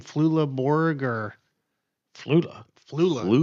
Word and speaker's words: Flula Borg: I said the name wrong or not, but Flula Borg? Is that right? Uh let's see here. Yeah, Flula Borg.